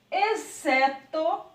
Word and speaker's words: exceto: E na verdade não é, porque o X ele está aqui, ó, escondidinho, mas ele não é pronunciado. Então fica exceto, excitante, excelente e excesso.